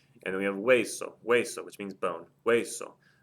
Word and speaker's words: hueso: And then we have hueso, hueso, which means bone. Hueso. That ends in a vowel. The stress is over the E on hueso, so there's no written accent mark.